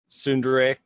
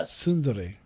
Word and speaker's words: Sundari: everybody in the podcast I know you mispronounce it it's Sunday right Sundari yeah Sundari sooner ray yes where where you get